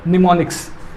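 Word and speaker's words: mnemonics: इसे क्या कहते हैं? निमोनिक्स, जिसमें M साइलेंट है।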